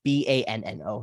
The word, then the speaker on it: Banno: It's spelled different. It's Banno, not Bono. It's Bano. All right, technically.